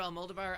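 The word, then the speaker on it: Almodóvar: because I've been it's kind of like Pedro Al moldovar I said his name wrong for so long that I can't fix it because the Accents in a different place than I always put it so now I say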